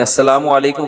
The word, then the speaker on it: السلام علیکم: میرے بھائی کا السلام علیکم اور صلی اللہ علیہ وسلم کا صحیح تلفظ بتا دیں. السلام علیکم کا ہے السلام علیکم، جو آج کل لوگوں